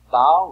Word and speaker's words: bow: Bow rhymes with cow.